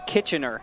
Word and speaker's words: Kitchener: feel like Canadians get really angry when you pronounce it. We don't. We're too nice. Okay. Kitchener.